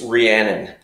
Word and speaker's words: Rhiannon: her name your wife my wife's name it's rhiannon so like the fleetwood mac song rhiannon rhiannon okay perfect you